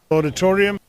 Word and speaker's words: auditorium: celebrate, Auditorium. auditorium. Remember, it's auditorium, auditorium. Auditorium, auditorium. Entertainment, Entertainment, entertainment.